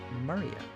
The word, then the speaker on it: Maria: That is pronounced Maria.